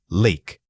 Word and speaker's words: leak: The word is leak. Say it again. Lick. Again, the difference is in the length of the vowel.